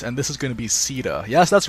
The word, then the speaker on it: Caeda: a substantial update and this is gonna be Sita yes that's right we're finally going to be pronouncing her name properly Sita is an absolutely